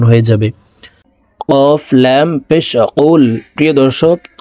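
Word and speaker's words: قُلْ: যাবে কফ লাম পেশ কুল প্রিয় দর্শক কফ হরফের উচ্চারণ জিহ্বার গোড়া তার বরাবর উপরের তালের সঙ্গে লাগাইয়া উচ্চারণ করে পড়বো কফ লাম পেশ কুল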